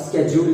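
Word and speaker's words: schedule: इसका pronunciation शेड्यूल भी होता है और स्केड्यूल भी होता है और इसकी ब्रिटिश इंग्लिश में बोलते हैं टाइम टेबल।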